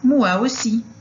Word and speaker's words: moi aussi: E o prazer é meu, a gente pode falar só moi aussi. Moi aussi. Então, o O com I, a pronúncia é UA.